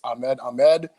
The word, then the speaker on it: Ahmed Ahmed: is Ahmed Ahmed for the people that count pronounced my name properly it's Ahmed Ahmed this is the axis of evil 12 year